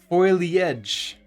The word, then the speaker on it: foliage: be our horizontal step foe like dough fo the edge oh okay hmm interesting i am i've i've been mispronunciating that my entire life boatly edge okay that's gonna take